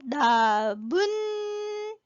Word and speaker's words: 나뭇잎: 그 다음에는 나무잎이 아니라 나문잎 니은 들어가죠. 그래서 사이시옷을 넣는 게 맞아요. 자, 그 다음에 이거 발음을 잘해야 돼.